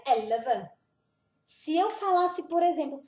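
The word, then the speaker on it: elleve: Depois vem aqui em cima, elva. Quando tem duas consoantes juntas, a gente pronuncia bem rápido. Então, seria elva.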